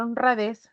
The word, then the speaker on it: honradez: consonantes muchas veces Entonces al pronunciar honradez recae en esta sílaba que es la última no a esta sílaba